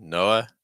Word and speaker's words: Noah: here we'll have Noah we have an O then an H schwas at the end Noah Noah Arthur Arthur see how weak